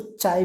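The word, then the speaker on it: psi: अरे ये साइन को हम लोग साई बोलते हैं, कंफ्यूज मत होना. This is द साई. कुछ लोग इसको चाय भी बोलते हैं, चाय. तो इतना अपना प्रॉब्लम नहीं लेने का. प्रोनाउंसिएशन का लोगों का रहता है. कोई चाय बोलता है तो कोई साय बोलता है.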